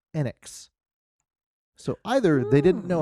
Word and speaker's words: Enix: yeah now that said any japanese enix title where they pronounced the name they always said it enyx so either they didn't